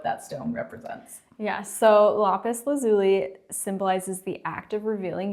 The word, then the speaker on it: lapis lazuli: to pronounce it right because apparently we've been pronouncing it wrong for years and now I can't remember the correct lais lazuli yes lais lazuli so it's a beautiful blue